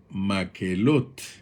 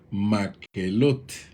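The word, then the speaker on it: Makhelot: más elote que en el idioma hebreo se pronuncia makelotte como ya vimos y podemos ir notando hay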